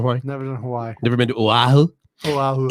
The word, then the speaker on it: Oahu: Oahu. Here's the easiest thing about Hawaiian. You literally pronounce every single letter.